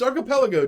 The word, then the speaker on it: archipelago: It's Archipelago, dude.